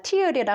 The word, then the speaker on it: tear: tear 하면 찢다라는 뜻이죠. 그래서 우리 눈물이라고 우리 노래에도 이런 tears라는 노래도 있지만 tear이라 하면 눈물이라는 뜻으로 해석을 해야 되고요. 여기서는 찢다라는 뜻이기 때문에 tear 이라고 읽어줍니다. tear.